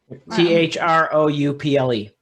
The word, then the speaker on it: throuple: i guess that's c-h-r-o-p-p-l-e t-h-r-o-u-p-l-e ah now you're looking for a throuple ruppel or through throuple it's like trouble t-r-o-u-b-l-e is spelled trouble so throuple would be through throughout the couple but throughput yeah this